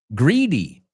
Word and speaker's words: greedy: Hey, we looked at that word, greedy, right? We were talking about greed before. It's not pronounced like grid, right?